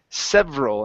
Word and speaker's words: several: early today so um several instead of several several several States several several States okay so this e right here we're not going to pronounce that so instead of saying several